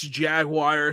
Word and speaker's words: Jaguar: guys remember so I I know European people think it's Jaguar it's jaguar in America that's how we pronounce it but I'm pretty